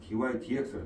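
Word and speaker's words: dy/dx: 그러니까 dx분의 dy가 아니고 dy dx라고 읽습니다.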